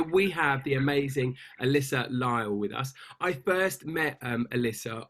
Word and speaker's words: Lisle: do you say your last name alyssa lyle lyle okay you saw the first one that's like saturday morning i only woke up half an hour ago okay so we have the amazing alyssa lyle with us i first met um alyssa on